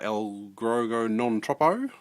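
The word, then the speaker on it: Allegro non troppo: coming out soon and then we've got uh El grego non-tropo that's how you pronounce it uh it's got like a sort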